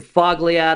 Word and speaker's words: Fogliato: be confused with Andrew Fogg liad oh the G is silent from just sell homes